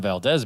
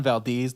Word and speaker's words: Valdez: And like that was, I had to be referencing back against the actual Exxon Valdez because the driver or the pilot of that ship, or the captain, I guess, was wasted.